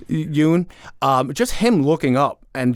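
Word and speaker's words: Yeun: Stephen Yen? Is that how you say his name? Or Yoon. Yoon? I'm sorry. Excuse me. Yoon.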